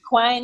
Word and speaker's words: Quine: Quine rhymes with wine.